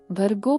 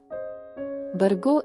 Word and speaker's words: ಭರ್ಗೋ: ಮತ್ತು ಮಹಾಪ್ರಾಣ ಅಕ್ಷರಗಳ ನಿರ್ಲಕ್ಷ್ಯ ಭರ್ಗೋ ಪದವನ್ನು ಬರ್ಗೋ ಎಂದು ಉಚ್ಚರಿಸುವುದು ಇಲ್ಲಿ ಪ ಮಹಾಪ್ರಾಣ ಅಕ್ಷರ ಅದೇ ರೀತಿ ಧೀಮಹಿಯಲ್ಲಿ ಬರುವ